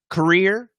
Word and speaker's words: career: two are right so korea career okay and the difference is right here this is just a schwa and this is a schwa r so in other words this r is super important so if your r